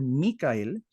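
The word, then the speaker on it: מיכאל: Miguel que de hecho la verdadera pronunciación el hebreo debiera ser micael para nosotros conocer Quién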